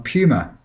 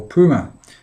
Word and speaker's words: Puma: a background piece on on pummer or Puma depending on where you come from and how you pronounce these things but Puma the sports